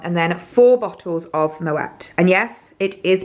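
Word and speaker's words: Moët: little bit wrong but because of the little dots on the E you do pronounce the letter afterwards so found that out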